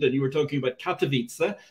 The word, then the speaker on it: Katowice: you were talking about katowice uh which i'll pronounce uh slightly hopefully slightly better for the sake of our polish producer this evening rather than katawida which sounded a bit to me like somewhere in hawaii steve i'm gonna have